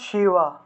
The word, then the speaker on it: শিব: তারপর দেখুন শিব, শিব, শিবের উচ্চারণটা কিন্তু শিবের ক্ষেত্রে যে বটা আছে, ঠিক আছে, এই বটা হলো অন্তস্তব, অর্থাৎ শিওয়া, শিওয়া, শিওয়া, অন্তস্তব, শিওয়া, ঠিক আছে?